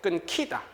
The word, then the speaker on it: 끊기다: 끈 뒤에다 놔야 했는데 히읗하고 기역이 결합돼서 뭐가 돼야 돼요? 키역돼야 되겠죠. 끊기다. 자음에 축약이 벌어져서 끊기다라고 했어야 됩니다.